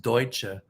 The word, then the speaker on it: Deutsche Bank: it no it's pronounced Deutsche okay like the German actually what that means is German Bank the German word for German is Deutsch so deutsche's bank is